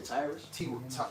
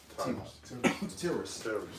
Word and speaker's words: Tiras: So there you say Tyrus? Tiras? Tiras. Spell it. Tiras. Yeah, okay. That ain't Tyrus.